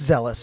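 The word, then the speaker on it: Zheles: It is pronounced zealous, but it is Z-H-E-L-E-S.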